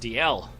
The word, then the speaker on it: Dalziel: me in the girl didn't know how to pronounce my name so she how do you press your name I said it's just DL is she gone it's no dolls Beyonce no